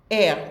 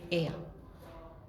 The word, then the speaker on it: heir: Hair, we don't say hair. When you say hair, then you mean the hair on your head. But we don't pronounce the H, we say heir.